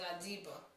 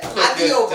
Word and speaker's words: Adioba: I said Adioba. And I said Adiba, like with a silent O. Which one got it right? So who's right, Tiff or Nick? Tiff. Tiff. Adioba.